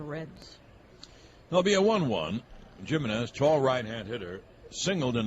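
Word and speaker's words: Gimenez: In case you're wondering, Chris Jimenez came up to Cleveland, and everyone thought his name was Jimenez, and they asked him. He said, no, I pronounce it Jimenez. That's why it's with a G.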